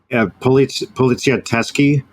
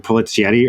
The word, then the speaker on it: Poliziotteschi: I also want to Poliziotteschi. If you could just dub that over me saying Polizietti earlier, mispronouncing it, that'd be awesome.